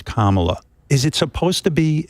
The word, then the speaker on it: Kamala: mispronouncing your name they they act as if they can't say comma it's not that complicated what what's going on what really is going on there when they can't pronounce Kamala is it supposed to